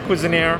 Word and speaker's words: Cuisineer: All right, so this is Cuisineer, I'm guessing? That's the pronunciation? Cuisineer. Yeah, can you... Cuisine, but Musketeer, Cuisineer.